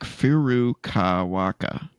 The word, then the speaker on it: Furukawa: Nintendo boss Shintaro Furukawaka.